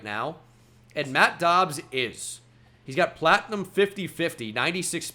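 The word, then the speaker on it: Doubs: visits in there yeah I like the Romeo dobs brother storyline that's why I'm pronouncing it dobs instead of like dobes Alabama has passed us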